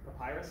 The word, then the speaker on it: Papyrus: on Papas papis I don't know how you pronounce it papus Papyrus thank you and I often ask the group